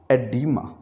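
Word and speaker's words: oedema: इसी तरह से हमने ओ ई को देखा और हमने कहा हम इसमें ओ को प्रोनाउंस नहीं करेंगे, हम इसका सिलेबल स्टार्ट करेंगे एसोफगस, एडिमा।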